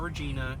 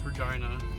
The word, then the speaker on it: Regina: salve regina university for college that's how you pronounce it it's not regina it's regina sorry don't make the rules and it is